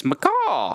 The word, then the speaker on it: McCall: And Sean McKay? Daniel. No, that's Sean Fouts. I've got Okay. another Sean. So Actually, I said it wrong anyways. It's McCall.